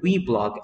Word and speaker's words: weblog: that I've decided to pronounce the word weblog as we blog or blog for shirt